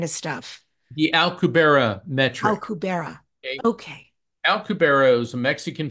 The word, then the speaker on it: Alcubierre: You'll have to help me if I'm pronouncing it wrong, Alcubierre. And it's known as faster than life travel, hyperspace, right? This is Star Trek kind of stuff. The Alcubierre metric. Alcubierre.